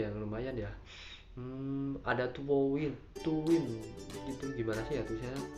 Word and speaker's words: TWOWIN: Ada Tuwin gitu, gimana sih ya tulisannya? TWOWIN, Tuwin ya bacanya ya, mungkin kali ya.